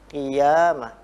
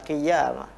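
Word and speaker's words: قيامة: Jadi seolah-olah ada tasydid, padahal itu ya? Tidak ada. Maka harus qi sendiri, ya sendiri, qiyamah, qiyamah. Jadi bukan qiyamah.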